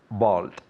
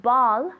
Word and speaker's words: bald: in English tell me bald good good pronunciation of the D at the end ball no bald bald very